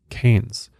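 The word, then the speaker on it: Cairns: but a city called keynes i believe i'm saying that right it's spelled c-a-i-r-n-s but in australia they pronounce it as keynes which is kind of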